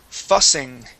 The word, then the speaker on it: fussing: And this word here is fussing. Fussing. Excellent. Yeah, that has a short U sound.